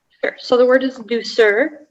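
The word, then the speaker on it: douceur: so the word is do sir there's a slight variant on the pronunciation it can be sir or sir it's a noun uh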